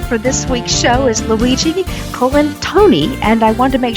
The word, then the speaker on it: Luigi Colantoni: dananer joining me for this week's show is Luigi colen Tony and I want to make sure that I said his name right Luigi colen Tony Welcome to our show we're thrilled to have